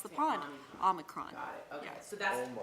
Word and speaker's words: Omicron: how to say it, she taught us it's like Omaha, right? That's right. I thought that was for There's actually an American pronunciation and a British pronunciation. Can you give us the difference, Chloe? Omicron and Omicron. Got it. So we say Omicron. We say Omicron. Omicron. In the US, but Omicron. over there, across the pond, Omicron.